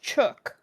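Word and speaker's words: Chuuk: It says rhymes with book or look. So it's chook.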